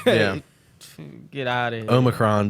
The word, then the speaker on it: omicron: get out of here omicron dude it's back that's how you that's how you say it oh my god you called it oh marion no i was calling it i was calling it omnicron yeah it sounds like it should be omnichrome yeah but it's omicron